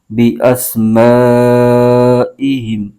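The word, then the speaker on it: بِأَسْمَائِهِمْ: ہے اور میم ساکن، ہا کو میم کے ساتھ ملائیں گے، ہجے یوں کریں گے با زیر بی، حمزہ سین زبر اس، بی اس، میم الف زبر ما، بی اسما، حمزہ زیر ای، بی اسمائی، ہا میم زیر ہم، بی اسمائہم۔ آگے یہ لا لکھا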